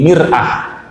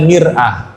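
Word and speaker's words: مِرْآة: Kita rubah bacanya, jangan mar'ah. Mimnya kita ganti dari fathah ke kasroh jadi mir'ah. Mir'atun artinya cermin Pak.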